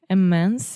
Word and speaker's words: immense: Can you explain how to pronounce immense again? Immense. So it's almost an E, right? Immense, not immense.